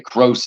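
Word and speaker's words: Kroos: play on gross okay gross is how you pronounce it maybe you're trying to put an accent on there that didn't need to be there all right Athletic Club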